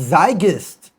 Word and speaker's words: Zeitgeist: So, it's it's zygist because the e after that you pronounce the e, right?